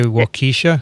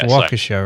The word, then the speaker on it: Waukesha: pronunciation of that yeah of waukesha with my pronunciation did you say walkiesha i said walking sure but it's waukesha right yeah i've been corrected you've been good